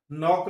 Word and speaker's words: knock: here D is silent नॉक लिखुछो KNOCK here K is silent fast रे pneumonia लिखुछो